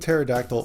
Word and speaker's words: pterodactyl: Ptolemy and Pterodactyl might be the only words or names I know that start with a silent P.